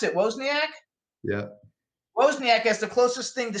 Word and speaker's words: Wozniak: described by apple co-founder steve how do you pronounce it wozniak yeah wozniak has the closest thing to steve jobs he's